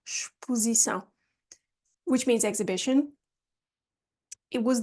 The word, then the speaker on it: exposição: Notice how we pronounce the X here, exposição, which means exhibition.